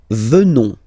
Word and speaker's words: venons: Nous venons. Okay? O-N-S, classical ending for nous. Okay? Final S not pronounced.